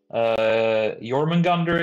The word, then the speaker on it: Jormungandr: But drop the R's and you got something pretty close to how we pronounce them, like Jormungandr is just Jormungand.